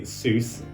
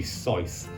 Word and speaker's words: Seuss: Seuss people often mispronounced the Seuss or in technically speaking you should be SycE so dr.